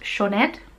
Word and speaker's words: Sioned: So it's a Welsh name, which is why I was struggling, because I have no Welsh in my family. I mean, I probably do at some point, but I don't speak any Welsh. But it's pronounced Sioned.